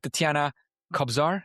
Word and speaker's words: Tetiana Kobzar: We have Tetiana Kobzar. Is that Is that a good pronunciation?